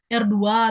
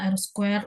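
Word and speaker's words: R²: Kemudian R2 tadi bacanya, harusnya kan dibaca R square atau R kuadrat untuk koefisien determinasi modelnya ya.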